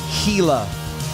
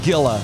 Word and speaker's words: Gila: uh-huh matt holloway yeah says that it is enunciated gila not gila i don't care so just wanted to clear that up it is gila excuse me boil bowl